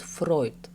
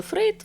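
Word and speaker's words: Freud: вам не почулося Зігмунд фройт Саме так вимовляє свою прізвище вчений у документальному фільмі що транслюється у Лондонському будинку-музеїв фройда на марсілд гарденс питання як вірно вимовляти українською фройд чи Фрейд втрачає свою актуальність оскільки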